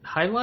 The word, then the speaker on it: jai alai: highlight? Yeah, it's Jaialai. I think it's pronounced highlight. I'm probably wrong.